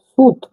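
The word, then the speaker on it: сүт: দেখুন সি এটা সি হলেও এটা ইংরেজি অক্ষরে উচ্চারণ হবে এস এর মত অর্থাৎ দন্তস দন্তস এবার আমরা একটা উদাহরণ দেখব দেখুন দেখুন সুদ সুত মানে কিন্তু দুধ সুত মানে দুধ দেখুন এটা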